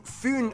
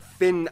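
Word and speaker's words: Fyn: that's too much information it is connected to foon island not finn island by the great belt bridge completed in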